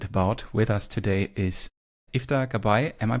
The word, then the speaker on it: Iftah Gabbai: With us today is IFA Kabay. Am I pronouncing that correct?